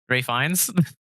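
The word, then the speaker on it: Ralph Fiennes: butcher his last name Ray feines Ralph fees is Ray feines Ray don't ask me that's apparently how it's pronounced oh okay my bad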